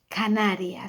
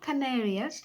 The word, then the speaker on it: Canarias: you have been there, Canarias. So it's not Canarias. Remember what we were saying about the vowels, always read the same, Canarias.